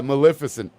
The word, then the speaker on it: Maleficent: Yeah, Maleficent.